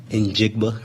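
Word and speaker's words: Njigba: Of course, the receivers are the strength of their team with DK and Lockett and Jigba, right?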